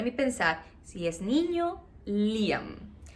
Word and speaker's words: Liam: yo quiero liar no y aquí en brasil pronuncian lyon y el lyon y yo liam no entonces me resistí gracias